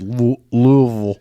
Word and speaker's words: Louisville: it they meet every other year uh in Louisville Kentucky which is my home state the Commonwealth that is pronounced Louisville Louisville Louisville um had a wonderful time uh